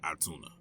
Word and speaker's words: Otoonah: not find anything on atuna or otuna um other than the pronunciation being atuna I'm pretty sure the